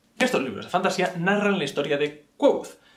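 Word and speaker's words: Kvothe: Estos libros de fantasía narran la historia de Quoth. Si lo pronuncias de cualquier otra manera, lo estás pronunciando mal, porque el propio personaje dice cómo se pronuncia. Leyendo textualmente. Me llamo Quoth, que se pronuncia Quoth.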